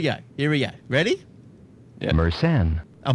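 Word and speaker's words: Mersenne: so here we go here we go ready meren a meren thank you thank you pronunciator meren Primes uh 2 raised to the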